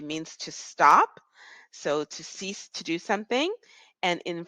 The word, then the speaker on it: six: it says six but in French we say CE ceas ceas it is almost as we're if we're saying c e a s e you can write that